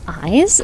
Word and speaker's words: eyes: want to hear me пам'ятайте очі це як льд як лід Eyes а вуха - це